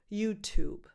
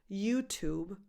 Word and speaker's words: YouTube: Think of the name of this very famous band and add a very light B sound at the end, YouTube. The stress can be on either syllable, YouTube or YouTube.